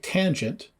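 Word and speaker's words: tanh: function called the hyperbolic tangent abbreviated t a n h and pronounced tange which is given by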